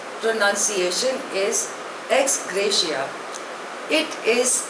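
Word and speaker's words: ex gratia: ऑफ हि mother the नेक्स्ट इ एक्स ग्रेशिया spelling इ ई एक्स जी आर ए टी आई ए pronunciation is एक्स ग्रेशिया इट इज अ Latin word it मीस एस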